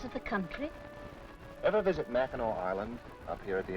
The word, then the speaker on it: Mackinac: the place that spelled Mac and act and pronounced Mackinac why is that I've wondered about that next